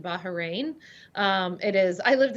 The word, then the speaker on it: Bahrain: now by the way just so our audience knows you pronounce it bahrain um it is i